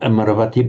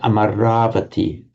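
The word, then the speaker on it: Amarāvatī: abode of immortality, and with the a lengthening before that v, not Amaravati, but Amaravati. Many of you, of course, will be familiar with Amaravati monastery in England. Never ever pronounce it Amaravati. Ugh, that's awful. So many people do.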